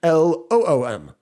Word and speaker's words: Loom: I will also recommend doing what we've been doing, which is using Loom, Loom. It's nice. It rhymes with Zoom, right?